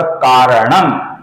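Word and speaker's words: कारणम्: जो अंतिम म है इसका भी हम म ऐसा उच्चारण करेंगे यहां पर कारणम ऐसा उच्चारण होगा क्योंकि यहां पर म के आगे कर्ता का क आया हुआ है तो यहां पर सही उच्चारण होगा दोस्तों करण कारणम कर्ता आगे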